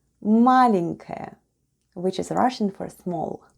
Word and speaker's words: маленькая: The first sound is m, then we have a, l, e, n, then goes soft sign, and soft sign makes the preceding letter sound soft. So we have n, then goes k, a, and ya.